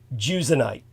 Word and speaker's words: Jusionyte: So I believe it's pronounced Jusionite.